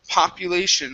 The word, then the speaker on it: population: is uh the word population right here instead of po popu it's pa popu population population okay good um next up